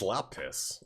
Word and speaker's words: lapis: He says it's lapis.